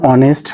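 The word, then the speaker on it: honest: এখনো বলি অনেক স্টুডেন্ট আমরা আজ থেকে জানলাম যে এখানে এইচ উচ্চারণ হবে না সৎ ব্যক্তি এ ভেরি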